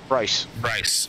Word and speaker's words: Bryce: Donald in the 1, and Bruce, right? Bryce. I said it right.